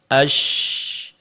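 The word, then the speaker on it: ش: Sedangkan huruf syin itu sedikit direnggangkan asy.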